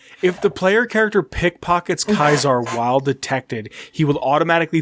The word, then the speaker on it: Caesar: pronounce caesar's name as kaisar a post-classical latin pronunciation emphasizing the diphthong d-i-p-h-t-h-o-n-g dipathong diphthong what